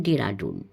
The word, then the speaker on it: দেরাদুন: আমরা দেরাদুন বলি, সদানন্দবাবু বলেন ডেরাডুন। আমরা 1.5 লক্ষ টাকা বললেও সদানন্দবাবু বলেন 1.5 লক্ষ টাকা। এটা বোধ হয় নর্থ ক্যালকাটার উচ্চারণ।